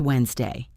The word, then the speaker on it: Wednesday: Notice that the stress never moves from the first syllable. Wednesday. It never becomes Wednesday no matter how you say it. The stress is always on whens.